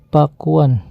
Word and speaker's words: Pakuan: Ada juga catatan kata Pakuan berasal dari bahasa Kawi, Pakuan, yang kemudian diejak Pakwan. Dalam lidah orang Sunda, kata itu akan diucapkan Pakuan.